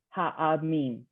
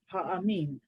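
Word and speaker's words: הָעַמִּים: So the ayin is silent, but it has a Oh. ah under it. Ha'amim. Exactly, right.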